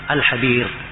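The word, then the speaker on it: الحبير: Attalkhis alhab kemudian pakai ha biasa bukan pakai k. Ini sering salah baca habis harusnya att atalkhis alhabir.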